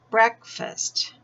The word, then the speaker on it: breakfast: And here, I've had a delicious breakfast. This is breakthrough, breakfast. So the pronunciation is a little bit different, even though this part's spelled the same.